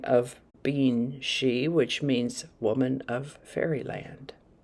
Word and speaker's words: sidhe: the way it's spelled it's pronounced she but it's spelled s-i-d-h-e she is a noun